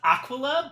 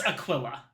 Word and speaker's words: Aquila: Apparently, it is Aquila. It's Aquila? Yeah. Yeah. I see. Oh wait. Also Aquila. Aquila. That might be how like the quote unquote correct Latin pronunciation.